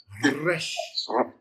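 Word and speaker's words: ר: Resh. The fun little trill on the R. Very Hebrew, got a trill.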